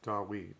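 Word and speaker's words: דוד: And we know from the Septuagint and the New Testament that it's Dawid because it's spelled with a U sound.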